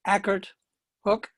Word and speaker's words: Ackert Hook: I hear generally the pronunciation for Blythewood is Blythewood, and the other is Ackert Hook.